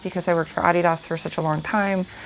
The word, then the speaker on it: Adidas: So, if you think I'm pronouncing it wrong, no, I'm just not pronouncing it American cuz it's a German company.